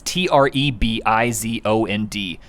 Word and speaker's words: Trebizond: Never can pronounce that. It's Trebizond.